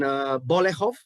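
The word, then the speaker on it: Bolechów: scene when you descend into the cellar in Bolehov, this is how you pronounce it, where your relatives are hiding from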